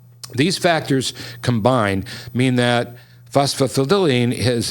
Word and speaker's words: phosphatidylserine: This other ingredient is pronounced phosphatidylserine.